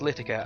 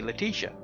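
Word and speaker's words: Littrica: can have tongue twisters a lot of people pronounced my gamertag wrong a lot its litigate Li TT RI CA what they used to call me Leticia which is completely wrong well oh well and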